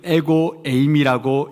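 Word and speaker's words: ἐγώ εἰμι: 헬라어로는 이것을 I am을 에고 에임이라고 읽습니다.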